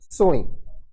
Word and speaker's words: sewing: इसका जो प्रोनाउंसिएशन है वो होता है sewing।